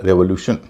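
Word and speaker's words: revolution: रेवोल्यूशन, इसमें भी TION से पहले 3 वावल हैं, ई, ओ और यू, उच्चारण हो रहा है रेवोल्यूशन।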